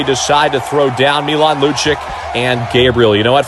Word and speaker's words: Lucic: Yeah, but it's not how it's pronounced. It's Milan Lucic.